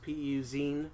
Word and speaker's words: PUzine: to the website www puz I any comms PU zine that's how you pronounce it I like us on Facebook and